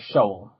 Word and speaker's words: Sheol: and spawned this being known as Shoal, which isn't shoal of fish, it's spelled Sheol, not spelled as in a shoal of fish, because it means grave is a biblical reference, because, I like making those.